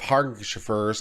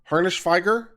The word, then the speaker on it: Harnishfeger: Harnish like harness with an ish. Harnish followed by Feiger. Feiger? Harnishfeger?